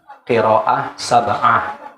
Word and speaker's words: qiraah sab'ah: Pengucapannya harus benar, qiraah sab'ah, ya. Kalau pakai hak qiraah berarti lanjutannya sab'ah. Kalau mau pakai qiraat berarti sab'. Qiraat sab'. Kalau qiraah sab'ah.